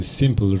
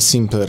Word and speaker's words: Simpl: Wiesz co, stworzyliśmy, jak dobrze wiecie, coś, co nazywamy Simple Rent, Simple bez E, bo to takie proste i jak się mówi Simple, to się tego E nie wymawia, więc zrobiliśmy Simple bez E.